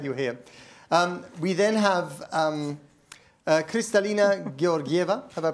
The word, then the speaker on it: Kristalina Georgieva: We then have Kristalina Georgieva. Have I pronounced that correctly?